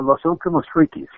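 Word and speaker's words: Los Últimos Frikis: don't know Spanish but Los ultimos how do you pronounce that last part uh Los ultimos freies oh okay it was right I didn't want to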